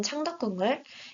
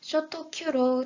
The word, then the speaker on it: 창덕궁: 사이트가 한국의 대표적인 궁궐인 창덕궁을 일본 발음인 쇼토 큐로 잘못 포기하고 있다는 사실을 발견했습니다뿐만